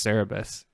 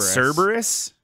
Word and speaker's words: Cerebus: I think Todd is wrong it's cerebus what did I say you said you said Cerberus like um you know who's to say like like uh like the like the multi-headed dog isn't it spelled like Cerberus I think that I think it's missing a syllable I think it's only